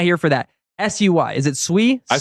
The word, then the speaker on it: Sui: If you watch Deliverance, it's pronounced Sui.